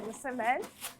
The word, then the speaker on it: msemen: pause, vous avez su maîtriser l'étymologie et la prononciation de nos galettes, à savoir les msemen.